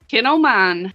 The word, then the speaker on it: Kinomine: Kinomine, yeah. Like kinfolk of mine, like relations.